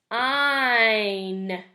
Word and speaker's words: sign: Another word that you might have, the GN is actually going to be at the end of this word, and this word is sign.